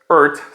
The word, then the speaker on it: Eart: them so earth guitars earth specifically that's how it's pronounced not e-a-r-t not ert it's pronounced earth stands for electro acoustic